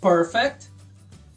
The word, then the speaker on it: perfect: Perfect, absent, frequent. Perfect, absent, frequent. Já os verbos aperfeiçoar, perfect, sílaba tônica é a segunda. Aperfeiçoar em inglês, perfect.